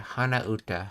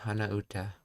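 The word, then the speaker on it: 鼻歌: That's that humming kanji again, which means it's pronounced. Oh yeah, hana uta, hana uta.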